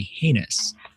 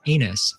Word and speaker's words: heinous: A slow or weak recruit is said to be heinous, which many recruits and in fact drill instructors have misheard and will continue to mispronounce as anus for their entire career.